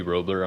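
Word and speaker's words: Roblyer: my name is roebler I'm a leading planner from the Genesee County Planning Commission roebler r-o-b-l-y-e-r silent b l y I like to make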